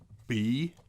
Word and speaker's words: bruv: How do you pronounce B-R-U-V? Bruv.